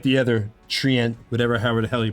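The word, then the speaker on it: Treant: I like the other Trient, however the hell you pronounce it better. Trent, you said it right.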